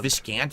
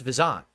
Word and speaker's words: Viscant: during by the way it's pronounced vzan I don't know if you guys know that every say viscant or whatever it's actually pronounced vizant but no one knows that that's old school fgc everyone just said viscant over the years because they didn't realize it's actually pronounced vant but whatever okay vant